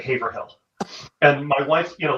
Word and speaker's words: Haverhill: Town names possible place in Haverhill yeah you mean Haverhill she pronounces that Haverhill and my wife you